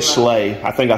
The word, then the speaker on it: Schley: Slock. Slock. See? Slock. That's not what you said. Slock. Slock. I said Schley. I think I said Schley.